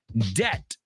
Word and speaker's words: debt: Debt rhymes with bet and pet.